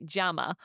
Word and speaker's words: llama: We don't say llama in Spanish. We say jama or instead of saying polo, we say bour, which means chicken.